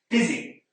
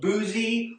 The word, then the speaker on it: busy: Busy. Here we can see that the U does not make the sound that we might expect. Instead, it makes an I sound. It's not boozy or buzzy.